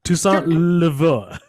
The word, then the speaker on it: Toussaint Louverture: Toussaint Louverture.